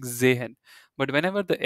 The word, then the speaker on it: sehen: But whenever this s is at the beginning of a word, it sounds like zehen. It's not like sehen, it's zehen.